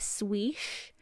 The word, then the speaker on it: SWICY: And I don't know how people are pronouncing this on the regular, but I will, I guess, call it swish, because that's how they say it in the song.